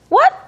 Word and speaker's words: what: 약간 우 발음이 있어서 what 이렇게 해 주시면 되겠고요.